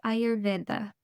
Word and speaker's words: Ayurveda: Yes, it's Ayurveda. So I like our eyes, the organs or eyes that we see out of. Mhm. Your Veda, the D is kind of the dental teeth.